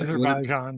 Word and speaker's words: Azerbaijan: Did I mispronounce that, guys? Say Azerbaijan, yeah.